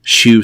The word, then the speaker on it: shew: At this time, people like Kelley would travel around with what they called shoe stones, SHEW stones, and that's like show stones, the way we would pronounce it now.